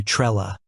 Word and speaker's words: Trello: there are Regional variations in some areas you might hear a slightly softer o sound almost like a uh so it might sound closer to Trella this isn't necessarily wrong